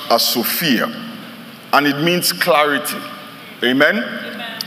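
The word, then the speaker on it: σοφία: verses comes from a Greek word that is pronounced as Sophia and it means Clarity amen amen it means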